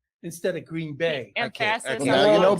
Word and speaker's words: Green Bay: I said Green Bay instead of Green Bay. Emphasis okay. on Now the you know wrong better.